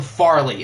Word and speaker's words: Farley: his name wrong Caleb Farley it's far not fair I have not engraved